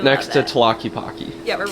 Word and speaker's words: Tlaquepaque: How do you pronounce it? Tlaquepaque. Tlaquepaque.